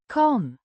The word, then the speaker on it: kan: Pronounced Kahn. similar to the English pronunciation.